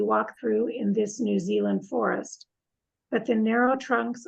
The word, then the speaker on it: Zealand: wildlife of New Zealand even though it looks like Z land I think we're lazy and we say Zealand almost if it's l-u-n-d so we say New Zealand are similar to those